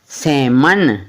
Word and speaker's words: salmon: तो इसी प्रकार है M वाला भी, तो M से पहले आया L भी तो साइलेंट होता है। जैसे CALM काम, PALM पाम, BALM बाम, और SALMON क्या बनता है, सैमन, ना किसको पढ़ना है, सैलमन।